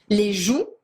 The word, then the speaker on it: joues: Les joues, Les joues. les joues, Les joues. The cheeks. written ES at the end, that you do not pronounce.